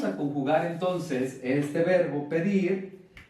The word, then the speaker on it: pedir: Pedir, pedir. Esta elevación, esta fuerza, pedir, nos está indicando la sílaba tónica o el acento prosódico.